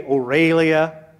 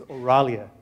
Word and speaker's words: Auralia: Some people say Aurelia. Some people say Orlia. Let's prove them all wrong tonight. The right way to say it is Auralia.